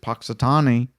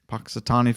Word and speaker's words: Punxsutawney: dead and I did say it correctly that Punxsutawney I know I couldn't say it last week but I'm saying it now Punxsutawney Phil there are other animals uh in other